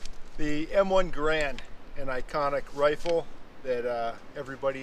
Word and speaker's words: Garand: And I say Garand, I know some people say Garand is the correct pronunciation, but those are the same people that probably say croissant instead of croissant, right? Yeah, it might be the correct pronunciation, but you sound like a pedantic idiot saying it.